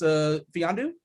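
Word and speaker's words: Mfiondu: So the M is silent. It's Fiandu, Kabengele.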